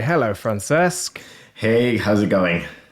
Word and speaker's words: Francesc Campoy: also joined by a special guest it'only France campoy hello France esque hey how'it going how are you pretty